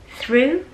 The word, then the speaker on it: through: 之后呢，要快速的抽动回来，非常快。所以为了让这个动作很快，你的这个发音部位是一定要放松的。